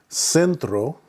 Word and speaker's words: centro: You can see there that the C, normally the sound is k, like cry, like casa. But whenever there's an E or an I following the C, then it makes the S sound, ciudad o centro.